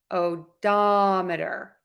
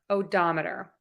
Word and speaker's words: odometer: murder and we're going to stress the diameter odometer odometer for the next word we're going to stress